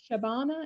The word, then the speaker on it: Shabana: how are you doing is your name shabana is that how you say it perfect thank you sorry sorry that's okay i always want to make sure that i pronounce it correctly so shavana would you tell us